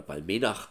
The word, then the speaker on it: Balmenach: Und natürlich ist ganz klar, ich weiß jetzt nicht, wo liegt, oder Balmenach, so wird sie ausgesprochen, wo die liegt.